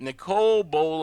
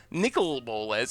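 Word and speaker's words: Nicol Bolas: from helical thank you so much again it's pronounced like I am I am you let Nicole bowl of snot nickel bolas it's not nickel nickel nickel bowl is not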